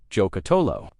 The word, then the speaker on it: Giocattolo: Number two, Giocattolo Group B, pronounced Giocattolo.